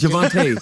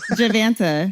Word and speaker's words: Javante: you're saying my name wrong. It's Javante. Javanta.